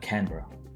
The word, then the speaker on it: Canberra: 12 March 1930, declaring, "I name the capital of Australia Canberra. The accent is on the can."